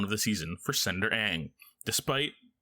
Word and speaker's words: Aang: the season, for Senator Aang. Despite... Is it Aang or Ong? How do they pronounce it in this? Aang. Like the Avatar.